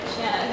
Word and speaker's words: Shanna: Wait, is it Shanna or Shayna? Is it like a long A or like a Shanna. Shanna, that's what I thought. Shanna like banana.